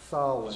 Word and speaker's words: Samhain: Now it's spelled Samhain, but it was pronounced Samhain.